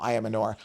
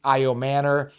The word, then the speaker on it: Ayomanor: Alik Ayomanor, I call him Ayamanor, but they pronounce it Alik Ayomanor.